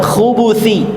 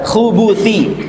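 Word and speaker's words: الخبث: Tadi kita baca dengan khubuthi, ya, Allahumma inni a'udzubika minal khubuthi. Ba-nya berharakat apa? Berharakat dhamma.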